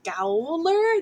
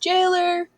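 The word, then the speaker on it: Gaoler: so that's the jailer it's spelled g-a-o-l-e-r um so a lot of people are like gowler no it's it's pronounced jailer yeah i say galler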